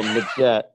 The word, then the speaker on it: Magette: i appreciate the efforts so magette magette is how you pronounce that makes sense that's